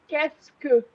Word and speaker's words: qu'est-ce que: But if you're saying it right, saying it fast, sorry, it sounds like qu'est-ce que. Oh, kesku.